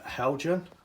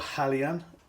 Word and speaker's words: Hejan: these boc wagons now these are from uh helgen or halyan as the proper pronunciation should be i've been told now these